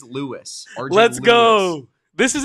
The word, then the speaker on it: Luis: I thought he used the ethnic pronunciation, too, until it was clarified. So, I believe it is Lewis.